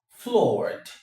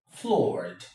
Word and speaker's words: floored: B is floored, floored, floored. From the pronunciation, you already know that this is the and not t, right?